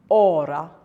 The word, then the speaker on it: hora: As I said earlier, H is not pronounced in Spanish. So if you have a word like ora, H-O-R-A is pronounced ora.